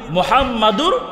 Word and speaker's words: মুহাম্মদ: 3 নম্বর ভুল, কালিমার আরেক অংশ নবীর নাম মুহাম্মাদুর রাসূলুল্লাহ, এই নবীর নাম উচ্চারণ করতে গিয়ে আরো মারাত্মক ভুল আমরা করি। কি ভুল করি দেখেন, মুহাম্মদ এটা হলো বড় হা দিয়ে।